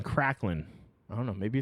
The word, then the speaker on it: Kraglin: It's spelled Kraglin. So Kraglin. But I feel like they're saying Cracklin.